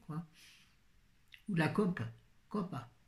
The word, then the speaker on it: copa: Copa. On dit cope en Corse. On ne prononce jamais la dernière voyelle des noms.